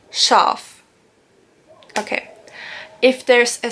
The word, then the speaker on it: Schaf: If there's an S, C and an H, then you pronounce it like sh. For example, Schaf.